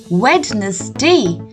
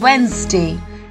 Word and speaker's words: Wednesday: simply a Wednesday so learn the spelling by saying wetness day but pronounce it as a Wednesday let's say it one